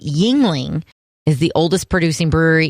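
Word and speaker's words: Yuengling: right probably a logger what's it called again yingling only it's spelled kind of funny it's n y-u-e-n-g-l-i-n-g got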